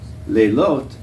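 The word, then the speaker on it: לילות: Leilot, and they don't have a TH pronunciation, it's just T, is plural.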